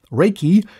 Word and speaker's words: Reiki: Reiki, pronounced Reiki, means universal life force, a term created after its rediscovery by Dr.